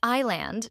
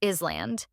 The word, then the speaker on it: island: pronounced Len not listen another classic example is Island even though there's ANS you don't pronounce it so it's I land not Island additional common examples Knight